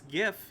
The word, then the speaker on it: GIF: God how to pronounce GIF he says it's it's gif as in giraffe the man responds okay